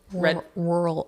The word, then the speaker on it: rural: but like it just rural there's too many RS rural rural rural it's one sentence one syllable rule okay so by